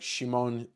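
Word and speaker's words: Szymon: It's like Shimon uh Kadransky. It's not Simon.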